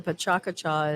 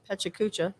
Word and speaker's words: PechaKucha: word for chit chat some people pronounce it uh pechakucha which is not the way you're supposed to say it it's supposed to be pachaka cha and it is there